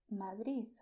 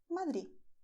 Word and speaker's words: Madrid: And the third one is Madrid. Whatever you like best. So, Madrid, Madrid, Madrid. Whatever you like best. People in Madrid normally pronounce Madrid. Okay, but you do not have to if you don't want to.